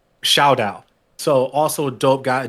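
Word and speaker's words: Shaodow: Oh my God, I gotta make sure I pronounce his name correctly because I pronounced it incorrectly before. Shao Dao.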